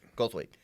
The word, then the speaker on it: Goldthwait: Saw Willow Creek, which is a film by Bobcat Goldthwait. I always forget how to say his name. Goldthwait.